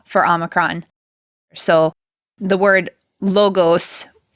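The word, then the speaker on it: λόγος: should not do that I would Advocate not pronouncing Omicron as ah but instead of pronouncing it as o mostly for the sake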